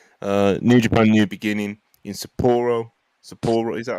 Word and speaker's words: Sapporo: New Japan New Beginning in Sapporo.